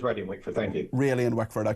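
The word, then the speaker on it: Rayleigh and Wickford: And I apparently uh uh Mark I'm apologies I I pronounced your constituency wrong wrongly yesterday. It's really in Wickford. Is that correct? Uh technically yes it is. It is ready in Wickford. Thank you. Really in Wickford.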